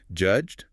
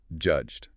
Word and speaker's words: judged: Notice the mechanics there. It is one solid syllable. Judged, not judge. The E is entirely silent. It's just serving to soften the G.